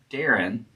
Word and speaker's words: Dahron: rho and da on d a h r o n Darren.